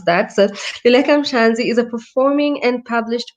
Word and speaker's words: Luleka Mhlanzi: So Luleka Mhlanzi, she told me how to pronounce that. So Luleka Mhlanzi is a performing and published poet, actress, creative